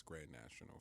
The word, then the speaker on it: Grand Nation XL: crew at Grand National Grand Nation XL is how it's spelled but it's Grand National for everybody that needs a little